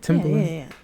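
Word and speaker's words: Timbaland: Timberland, because, did I say it right? Yeah. Yeah, Timberland. Yeah.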